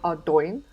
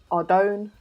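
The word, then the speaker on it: Ardougne: Officially, it's called Ardoyne. Some people call it Ardone, Adogny. Most people just call it Ardy, just to save arguments.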